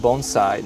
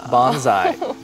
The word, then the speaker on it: bonsai: sure um actually the first thing is it's pronounced bonai not Bonsai many people that's right many people have heard